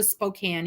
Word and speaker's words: Spokane: tribe they were the Spokan Indians and the proper pronunciation is Spokan and we will tell you in no uncertain terms that you have said it wrong and never heard it